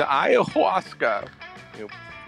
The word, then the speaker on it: ayahuasca: How do you pronounce that? It's ayahuasca.